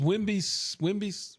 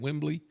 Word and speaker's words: Wembley: The largest is Wembley. How do you say it? Wembley No, Wembley.